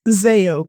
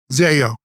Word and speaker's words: Zayo: How do you pronounce it? It's Zayo Group. Zayo.